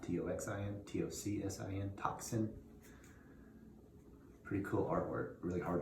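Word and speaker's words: tocsin: is patrick higgins and the album is called toxin it's spelled t-o-c-s-i-n not t-o-x-i-n-t-o-c-s-i-n toxin pretty cool artwork really hard to read though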